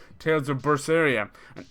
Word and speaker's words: Berseria: I mean, this is a series that had one called Tales of Berseria. And everybody who did a Let's Play on it pronounced the fucking thing differently. Everyone. Tales of Berder.